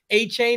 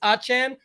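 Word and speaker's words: Achane: achen as we found out from Shafter you pronounce his name it's not a chain it's achan but either way people see that yesterday and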